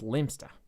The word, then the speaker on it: Leominster: having a static and helium fueled rg in leominster on a wet wednesday night it's actually pronounced limpster i know what it's called i got stuck